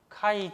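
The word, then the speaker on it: χ: 카이 제곱이라고 해요. 카이라고 읽어요. 카이. 그리스 문자 22번째인가 21번째인가는 모르겠는데 카이 제곱이라고 해요. 카이 제곱. X라고 읽지 않고 카이라고 읽어요. 카이. 카이 스퀘어라고 그래요.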